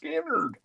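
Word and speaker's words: Skynyrd: $14 for Elvis Castello skinnard pronounced skinnard this is uh got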